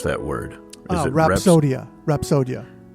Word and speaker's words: Rapsodya: can you tell me how how do you pronounce that word is it rodia rapsodia rapsodia yeah okay yeah it really comes from the